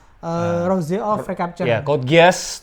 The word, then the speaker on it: Geass: Ya, Code Geass .2 Rose of Code the Geass Recapture. atau Code Geass? Ya, Code Geass. Geass deh. Geass. Code Geass. Enggak, Rose of anu, the Recapture. Pelafalan di anime sih Geass.